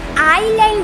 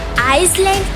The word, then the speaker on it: island: अरे भाई आइलैंड बोलते हैं तो हम आइसलैंड क्यों लिखते हैं?